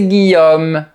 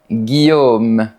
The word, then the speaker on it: Guillaume: D'ailleurs, quand je me présente, je dis « Salut, moi, c'est Guillaume ». Mais les Parisiens m'appellent Guillaume. C'est juste une petite différence d'accent qui ne pose aucun problème de compréhension.